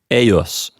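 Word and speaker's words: eius: e I us or EJ us and it's pronounced a US that's right and take note if you decide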